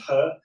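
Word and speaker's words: 何: Yeah, I mean, He Lifeng, to give him his, it was a confusing surname in Chinese, but it's pronounced He.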